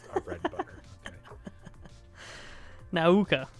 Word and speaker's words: Nauka: Nauka. You got to say it right. Nauka.